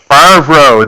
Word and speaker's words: Favreau: John Favreau? Favreau.